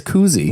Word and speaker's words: koozie: I always pronounce it as koozie. No, it's not like a jacuzzi.